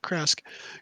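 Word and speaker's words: Krezk: You would know that Kresk is, yeah, that's the right way to say it, Kresk.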